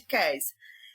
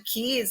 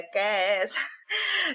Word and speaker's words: Kees: De Kes. E aí, tanto que nisso, muita gente queria chamar de Kiss, né? Lembrando a palavra em inglês beijo, mas a gente, não é Kiss, que se pronuncia, é Kes.